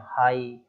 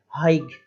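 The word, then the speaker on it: high: हैं बोल रहे हैं, हाइग, हाइग इस तरीके से, हाँ हाई, बस इतना ही, हाई HI उतना ही हो रहा है बस, है ना, GH साइलेंट हो गया, हाई।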